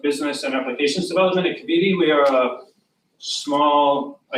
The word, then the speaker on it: Cavidia: Have I pronounced it right? Yes, Kavidi. Cavidia, there we go.